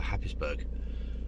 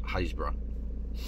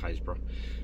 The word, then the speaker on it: Happisburgh: to set off for happinessburg i keep calling that pronounced hazebra fantastic the english language happisburg haysbrough it's uh in suffolk